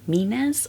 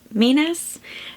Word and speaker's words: Menzies: I am going to work my way through Greek Myths by Jean -- “Mee-nez” I believe is how she pronounces her last name. So I just finished Greek Myths written by Jean Menzies and illustrated by Katie Ponder.